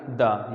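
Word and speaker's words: the: यूज़ of definite article द को हम दी भी पढ़ते हैं और द भी पढ़ते हैं।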